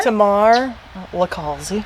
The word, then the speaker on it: Tamar LiCalzi: Well, this is Tamar LiCalzi. Did I say your name? Pretty good. How did I say that? How do you say it? Tamar? Tamar LiCalzi.